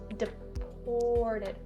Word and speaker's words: deported: To do that, make your mouth a bit smaller. Deported, or. See how small my mouth is? Deported. And for the last part of this word, the did, just don't over enunciate it and don't say deported, not correct, deported. The first d sound is a little bit more subtle.